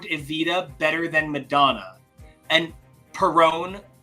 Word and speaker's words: Perón: But it's literally about I performed Evita better than Madonna, and Perón rhymes with LuPone, and it is so